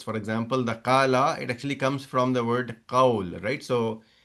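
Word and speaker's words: قال: So instead of saying kavala, the real way to say it is kavala, but you will not say kavala, you'll actually say kala.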